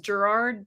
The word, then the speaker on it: Garard: So, it's it's pronounced Gerard, but not that way at all.